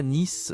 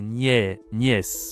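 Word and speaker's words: nièce: Ici la niè attention c'est pas Nice c'est niè.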